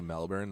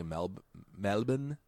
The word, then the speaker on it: Melbourne: know how like Australian people when they say Melbourne they say Mel Melvin Melvin okay well I was talking to this